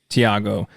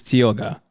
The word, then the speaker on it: Tioga: said this wrong so this is spelled Thiago this is Tioga listen no one's expecting